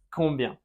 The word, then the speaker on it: combien: Combien. Ensuite, comment? Comment? D'accord? Comment? Comment tu t'appelles? Nasal final. Comment? Et on ne prononce pas la T.